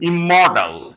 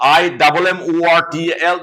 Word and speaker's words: immortal: In the same way, I have heard the beginners pronouncing immortal, immortal, IMMORTAL. That's why they pronounce it immortal, whereas they should pronounce it immortal. Though double M is there or double N is there, but you have to pronounce the letter once only. You have to pronounce M once only, you have to pronounce N once only.